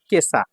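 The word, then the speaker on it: 今朝: আর এখন এই যে ইমারকানজির সাথে যখন আসা থাকবে তখন হয়ে যাবে কেসা। কিভাবে মিলল? এইটা বলা মুশকিল। এখানে স্টার চিহ্ন আছে। মানে কি? এটা ব্যতিক্রম উচ্চারণ। ঠিক আছে? তো কেসা অর্থ হচ্ছে আজ সকাল।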